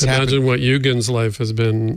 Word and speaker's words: Eugen: Is it Eugen the German way or Eugene?" He said, "Eugen's right, but I go by I kind of give up and I take Eugene."